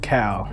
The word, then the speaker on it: Cal: Actually, that's not how you say his name, I'm pretty sure it's pronounced Cal. Yeah, it's Cal Newport.